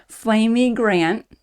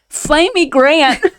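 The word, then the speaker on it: Flamy Grant: drag queen out there named Flamey Grant. Okay. That rhymes with Amy Grant.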